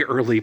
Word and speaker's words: Earl: I threw it away early, please. Earl rhymes with girl.